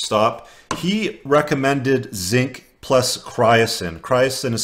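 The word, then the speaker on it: chrysin: He recommended zinc plus cryosin. Cryosin is spelled C-H-R-Y-S-I-N.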